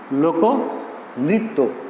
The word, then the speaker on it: লোকনৃত্য: তো এক্ষেত্রে কয়ের সঙ্গে অধ্বনির উচ্চারণ হচ্ছে, পরবর্তীতে রিকার আছে, তাহলে আমরা উচ্চারণ করব কি, সেই অয়ের উচ্চারণটা করব ও এর মতো। তাহলে উচ্চারণটা হচ্ছে এভাবে, লোকনৃত্য।